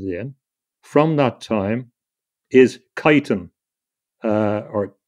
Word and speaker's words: chitin: from that time is chitin, or chitin, or chitin is pronounced in various ways. Some people say chitin, chitin. It's chitin, I think, is the best pronunciation.